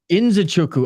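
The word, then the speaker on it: Nzechukwu: just got humbled boy how do you say Nuku Inu in chuku okay that makes more sense like Francis enanu yeah yeah in zuku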